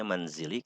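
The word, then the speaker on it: منزلِ: anda perhatikan Minal manzili ini bacanya manzili kenapa majrur kenapa karena dimasuki oleh huruf Jar dan tandanya tentu saja disini dengan kasrah karena al manzeel termasuk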